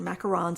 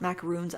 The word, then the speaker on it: macarons: can never remember that these are macarons and not macaroons I always say it wrong and then I'm probably